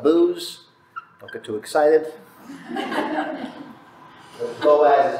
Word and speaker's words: Boaz: sometimes it's spelled booze don't get too excited Boaz is how normally pronouncement spelled and Boaz about Landor and the